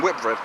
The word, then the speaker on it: Whitbread: It's actually pronounced Whitbread, and the performance was relatively decent.